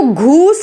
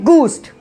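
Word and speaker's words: ghost: Next देखिए गूस्ट, इसको घूस्ट नहीं बोला जाता, इसको बोला जाता है गूस्ट।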